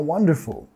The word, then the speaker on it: wonderful: How wonderful. How wonderful. How wonderful. How wonderful. How wonderful. How wonderful, qué maravilloso. Okay? Nota acá la acentuación. Wonderful. Vamos a enfatizar la primera sílaba.